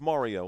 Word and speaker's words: Mario: Like it's Mario like Super Mario.